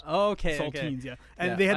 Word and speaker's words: Saltines: Yeah, no, but the Saltines. the Saltines, like yeah. the crackers. No, but spelled like teens, like teenagers. Oh, okay. Saltines, okay.